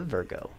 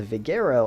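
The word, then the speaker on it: Vigero: now let's customize the virgo and there we go the total that we spent on the vegero i just realized i was pronouncing it wrong this whole time is 17 995 dollars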